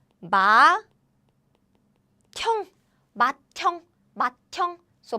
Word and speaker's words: 맏형: So this becomes the aspirated version. 짠. So it's like 맏형, 맏형, 맏형.